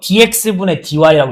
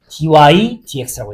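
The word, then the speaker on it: dy/dx: 그래서 dx분의 dy라고 읽지 않고 얘는 dy, dx라고 읽어요. 그냥 위에서부터 순서대로.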